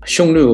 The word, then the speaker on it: Xiongnu: huns of the east xiongnu of course is the modern mandarin pronunciation of those cliffs whereas in old chinese